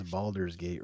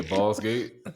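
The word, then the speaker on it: Baldur's Gate: no they can no you pronounce balers gate wrong it's balers gate three say balls gate all right but we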